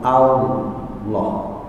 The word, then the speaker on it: Allah: Jangan sampai monyong duluan, Allah. Kalau monyong duluan biasanya sampai ke makhrajnya wow. Padahal di situ nggak ada wawnya, ya. Allah, bukan Allah. Ya. Termasuk adzan juga Allah, bukan Allah, bukan.